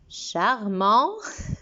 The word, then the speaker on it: charmant: Charmant, nous avons un T muet.